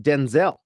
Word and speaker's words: Denzel: But you mentioned Denzel Washington.